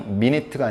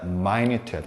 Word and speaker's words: minute: 그때는 발음이 미니트가 아니라 마이뉴트야. 마이뉴트. 다시 마이뉴트. 그러니까 분이라는 뜻도 있지만 우리가 미니트에서 놓치지 말아야 될 건 분이 아니고 시간에 몇 분 할 때 그 분이 아니라 형용사로 미세하다, 작다, minute. 이걸 놓치지 말아야 돼. 발음이 minute야, minute.